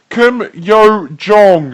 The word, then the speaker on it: Kim Yo Jong: Party official and Tom it's pronounced Kim yo Jong okay I apologize weather